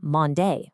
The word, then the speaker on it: Monday: Take the word Monday. 2 syllables, mon, day. The first syllable is the stressed one. We don't say Monday, we say Monday.